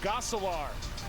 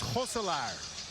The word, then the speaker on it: Gosselaar: year with Mark Paul Gosselaar. The Passage premieres. Joe, come on. You had one job. Actually, you're right. And being the professional that you are, and because I'm Dutch, the correct pronunciation is Gosselaar.